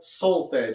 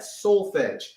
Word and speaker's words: solfege: so again we are dealing with something called solfege everybody say that solfege and it's spelled s spell it with me everybody s o l f e g e solfege everybody say that again solfege okay now